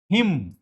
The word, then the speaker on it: hymn: ये है हिम। क्या है? इसमें न का प्रोनाउंसिएशन नहीं करते, प्रोनाउंसिएशन में इसको हिम कहते हैं, फायर हिम।